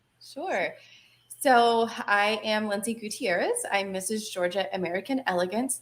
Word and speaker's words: Gutierrez: because i don't want to butcher it it's gutierrez gutierrez okay i probably would not have pronounced it that way so i'm glad thankful